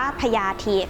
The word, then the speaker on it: พยาธิ: เอง ค่ะ คำ ว่า พญาธิ นะ คะ อ่าน ออก เสียง ว่า พญาธิ ค่ะ ซึ่ง บังเอิญ ว่า ไป